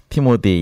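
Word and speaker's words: Timothy: 예, 우리 그 태은 전도사, 티모디, 영어로는 티모디라고 발음하죠, 그죠?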